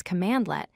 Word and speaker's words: cmdlet: A cmdlet, which is pronounced as commandlet, is a lightweight command used in PowerShell to perform a specific action or task.